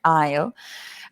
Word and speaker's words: aisle: pronounce as well ale it sounds like I will aleo the same pronunciation aisle um and the aisle